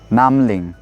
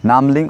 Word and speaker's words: Namling: Namling. You can also say Nambin. Nambin. Okay, try it. Okay, now Namling or Nambin.